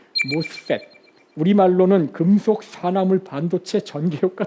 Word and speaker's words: MOSFET: 모스펫이라고 읽으시면 됩니다. MOSFET, 모스펫.